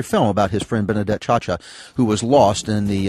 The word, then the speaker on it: Ciaccia: And that was her name, Benedetta Chacha. Yeah, Benedetta Chacha. We've been talking with Raj Babbra, who has made a documentary film about his friend Benedetta Chacha, who was lost in the 7/7 bombings in Great Britain.